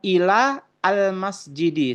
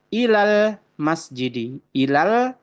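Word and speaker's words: إِلَى الْمَسْجِدِ: Sama ila juga seperti itu, bukan ila al masjidi, tetapi ilal masjidi.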